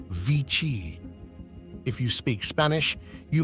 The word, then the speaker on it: vixi: You might think it's just a mix of Roman numerals, but it's actually a Latin word, pronounced VICI.